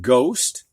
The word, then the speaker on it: ghost: So in these words, the G does get sounded, but not the H. So we have ghost. We don't hear the H.